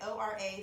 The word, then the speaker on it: Ora: so this one is Ora you can guess how you say it Oh RA so lean and so